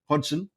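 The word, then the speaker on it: Hodgson: right next question so Roy Hodson Hudson is how you say it is the old or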